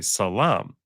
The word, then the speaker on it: salam: don't speak Arabic, but the word for peace in Hebrew is shalom. The Muslim they say salam, because the SH becomes an S, and instead of the O sound at the end, it's just an A.